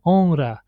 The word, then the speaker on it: honra: pronounced like honra, yeah, honra. But the reason why here we pronounce it multiple is because there is an N before that R.